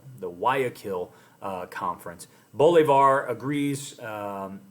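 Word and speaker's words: Guayaquil: previous slide we discussed it uh this is pronounced wakil the wakil uh conference bolar agrees um with San Martine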